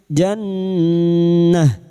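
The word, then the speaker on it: جنة: Saat berhenti sejenak, pengucapannya adalah jannah.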